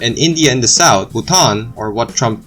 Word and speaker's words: Bhutan: Bordering China in the north and India in the south, Bhutan, or what Trump pronounced it as Bhutan, is well known for its unique temple architecture,